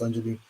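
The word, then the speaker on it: Angiolini: The Angelini report, I think it's pronounced Angelini.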